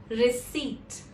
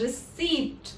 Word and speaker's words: receipt: If you're one of those people who pronounce it as receipt, wherein you pronounce the letter P as per, then you are incorrect. The correct way is receipt, where you omit the word P. it is not pronounced.